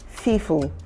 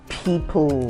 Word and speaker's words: people: pronounce well okay um some of them have challenges with the sounds of the letter P and the letter F so you get to hear some of them say Fe rather than saying people yeah you get to